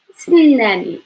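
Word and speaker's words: تسناني: I know this is like a little bit hard for pronunciation because some like there is no vowel. S, s, snani. So if you go to divide it, there is like s, it should be by itself, and then the last one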